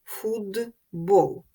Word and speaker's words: футбол: глухістю м'якістю та іншим наприклад футбол приголосний б дзвінкий він вплинув на попередній глухий т і т став вимовлятися як дзвінкий д фудбол це явище виникає щоб